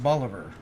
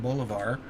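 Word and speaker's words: Bolivar: Stones toss away and they pronounce it Boliver by the way okay which I don't understand because the guy they named it after pronounced his name boulevar but we'll leave the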